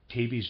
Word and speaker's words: tabes: almost all forms of tabes dorsalis to some form of syphilitic causes this is utter nonsense readers aside and pronouncing ta b es has tabes and then dorsalis and